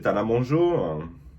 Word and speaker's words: Tana Mongeau: Tana Mongeau. Mongeau? Ah ouais, alors du coup c'est Tana Mongeau. Tu vois? Sorry. Because people on TikTok often say I look like Khloe Kardashian, Tana Mongeau, or Kendall Jenner.